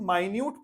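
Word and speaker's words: minute: You will find it difficult to break it इन माइन्यूट particles. ये मिनट नहीं है।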